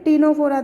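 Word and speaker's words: Ctenophora: ठीक है, टीनोफोरा देखो, इसके अंदर भी सी साइलेंट है।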